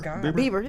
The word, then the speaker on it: Bieber: Am I saying it right? Berber. Bieber. Bieber.